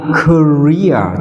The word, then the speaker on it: career: Từ này đọc là career, trọng âm mà âm tiết thứ hai vào hai e này nên chúng ta đọc là career.